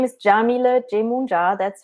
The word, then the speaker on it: Yamile: from Ohio awesome so again my name is Jamila German JA that's how you pronounce it and you can find me at